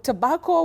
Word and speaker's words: tobacco: You say ba, not bay. Some people may find it a bit stylish saying tobacco, but it's just like somebody saying man instead of man.